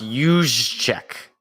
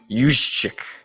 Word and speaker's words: Juszczyk: Yeah, pronounced Juszczyk. Juszczyk.